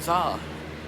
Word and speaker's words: Sza: They like, "Oh, you're talking about Zah." And then you know cuz my name the S is silent, but there's a Z right after the S. So you would say it with a Z.